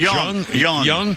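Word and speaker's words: Jeong: Ken Young or Jung. You pronounce it Young.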